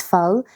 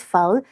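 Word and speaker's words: phở: So you know Vietnamese is tonal, which means one word has 6 meanings, saying it with 6 different tones. Okay. But I think with pho, you have to say it like you're asking me something.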